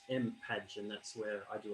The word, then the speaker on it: mpadge: So that thing over here in the middle is pronounced mpadge, and that's where I do a lot of my work, as well as OpenSci and AT Futures and other organizations.